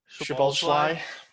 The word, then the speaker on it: Szoboszlai: Szoboszlai. Yeah. That's how someone told us to pronounce it in the comments. It's tough because there's two SZ sounds in there.